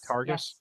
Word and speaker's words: Targus: Is that how you pronounce that? Targus.